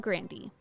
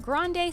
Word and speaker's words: Grande: In fact, it was Ariana's brother, Frankie, who thought that Grande sounded cooler than the actual pronunciation of their last name, Grande. And then my brother was like, we should say Grande, it's so fun to say it, it's funny, it's a funny name.